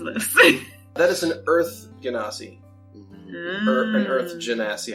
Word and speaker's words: Genasi: That is an Earth Genasi. Or an Earth Mm. Genasi, however you want to pronounce it. I also- say Janazi.